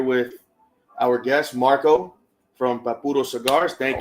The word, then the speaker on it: Papuro: His name was Arturo Perez, and we call him Papuro when we were a kid.